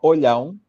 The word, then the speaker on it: Olhão: It will be very difficult to you to pronounce the name. It's called Olhão.